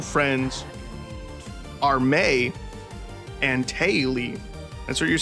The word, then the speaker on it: Mai: It's pronounced May. It is absolutely not. Is her name May? It's not Mai, like My Valentine from Yu-Gi-Oh!